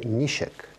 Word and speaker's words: ничек: И среди них одно из самых таких важных, те, которые постоянно на слуху, это «нищек». Вот эта русская буква «ч» на татарском языке читается как «щ», скорее, ближе к русскому «щ».